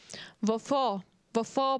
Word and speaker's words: hvorfor: When a word in Danish starts with H, you don't really pronounce it. You start with the V sound. Hvorfor bliver det net mor?